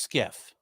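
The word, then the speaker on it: SCIF: be put together okay it's yes and it's pronounced skiff a skiff is accessible during business hours to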